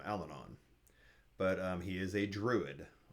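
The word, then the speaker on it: Allanon: I called him Alanin, and Terry calls him Alanon.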